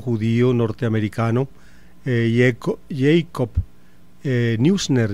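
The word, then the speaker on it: Neusner: eh Jacob eh Newner, yo no sé cómo se pronunciará eh el apellido eh en inglés. Eh, el apellido es de origen alemán. En alemán se dice Jacob Noisna. Ese es el la pronunciación original pues del nombre de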